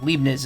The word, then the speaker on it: Leibniz: Leibniz is the way you're supposed to pronounce it.